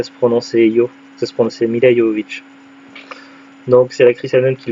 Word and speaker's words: Milla Jovovich: Alors ça s'écrit Milla Jovovich, mais ça se prononce Milla Jovovich.